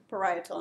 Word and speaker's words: parietal: membrane which is called parietal you say that please parietal in the accents is on the eye okay parietal serous membrane